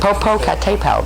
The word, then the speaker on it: Popocatépetl: Yeah, anybody know how to pronounce that one? You know the one in Mexico. Popocatépetl, there we go.